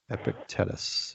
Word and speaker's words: Epictetus: name while epic Titus Epictetus EP epic and then te tus Epictetus epictetus whatever this doesn't